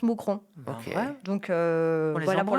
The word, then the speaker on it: Mouscron: fais un concert à Mousron en Belgique. Voilà, si vous voulez venir en marche. Voilà. Moonron. Ouais, ça s'écrit Mouscron mais ça se prononce Mousron.